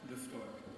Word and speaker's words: Luftwerk: Formed your how do you exactly pronounce it? Luftwerk? Luftwerk, in German.